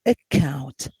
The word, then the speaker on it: account: ke and sex success but in account you have you have the combination of cc in here letters is uh is pronounced with with k like i don't say excel i say account so here instead of